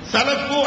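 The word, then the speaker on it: سلف: அதற்கும் என்ன தொடர்பு என்பதை சில புள்ளி விவரங்களோடு ஆதாரத்தோடு நான் உங்களுக்கு சொல்றேன் சலபு அப்படின்னா அது ஒரு அரபி வார்த்தை சீன் லாம் தே சலப் அப்படிம்பாங்க அரபி உச்சரிப்பு வரலாம் சலபு அப்படின்னுவாங்க சலப் சலப் அப்படிங்க கூடிய அந்த வார்த்தைக்கு நேரடியான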